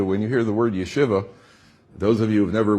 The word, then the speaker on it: yeshiva: from Chicago because the most people pronounce a yeshiva all right so that's incorrect it's you Shiva and they took this